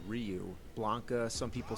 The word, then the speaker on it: Ryu: We didn't know Rayu was actually Ryu Blanca.